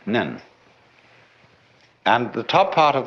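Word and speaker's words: 念: It's pronounced nyan. In Japanese, nen.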